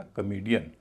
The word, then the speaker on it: comedian: पूरे शब्द को बोला जाएगा कॉमेडियन, न कि कॉमेडियन।